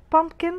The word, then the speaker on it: pumpkin: بامبكن طبعا هي البي التانية مش سايلنت لكنها خفيفة, انا ما بقولش بامبكن, بقولها بامبكن لان وجود